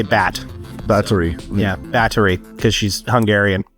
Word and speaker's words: Báthory: like I don't say bath I say bat battery yeah battery because she's Hungarian cool so they don't pronounce the th as much there they just B three